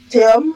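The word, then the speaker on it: תהום: Après tu as E. Le va avec le va le va Non non c'est c'est c'est en haut là c'est voilà et puis tu prononces le même à la fin ça fait thom thom qui signifie quoi alors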